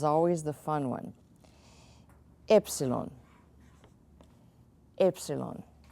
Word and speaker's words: epsilon: the fun one epsilon Epsilon put toothpick between your lips and say epsilon Y okay it's kind of like that it's Epsilon like you got something